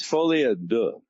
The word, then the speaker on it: Folie à Deux: It's Folie à Deux, but a French reporter told me that.